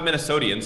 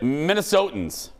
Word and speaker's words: Minnesotans: It's not Minnesotian, so how the hell do you say it? Minnesotans. Minnesotans. Yes.